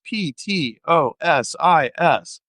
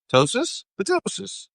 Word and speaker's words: ptosis: If anybody out there knows how to say it, it's P to Ostois. Ptosis. Okay.